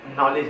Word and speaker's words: knowledge: आप इसको नॉलेज पढ़ते हैं, के साइलेंट होता है नॉलेज, ठीक है, नॉलेज पढ़ते हैं इसको।